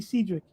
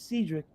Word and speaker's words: Cedric: yeah, that's like people calling me Cedric, and I let it happen. Even though the correct pronunciation is Cedric, it's Oh, Cedric or